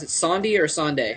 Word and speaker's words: Sonde: sndi is one of the or do you pronounce it sndi or snde how do you say it uh snde either way though I don't really caree yeah